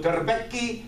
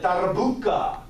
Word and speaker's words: darbuka: So darbeki, if you're from North Africa, we call it darbuka.